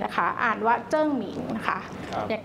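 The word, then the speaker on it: 鄭明: ของ รัชกาล ที่ 4 นะ คะ อ่าน ว่า เจิ้ง หมิง นะ คะ อย่าง ที่ เมื่อ กี้ ที่ เล่า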